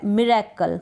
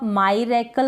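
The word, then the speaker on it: miracle: मिरेकल। क्या है? मिरेकल, MI। अब MI को आप माईरेकल करके नहीं पढ़ें, क्योंकि आप अगर एक बार पढ़ लेंगे उसके बाद आप गलत प्रोनाउंस नहीं करेंगे।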